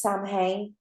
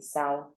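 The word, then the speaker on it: Samhain: thing yeah we do some people think it's Sam hey how it's spelled that it's actually sour oh okay yeah that's how you pronounce it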